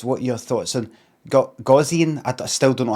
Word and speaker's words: Gaussian: something by sort of Carivore says GOW Zian. When you're doing these phonetic things, you need to do some things in caps to know what what syllable to stress on. Plus the GOW could be go or go.